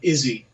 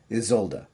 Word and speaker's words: Isolde: It's basically broken up as Izolduh.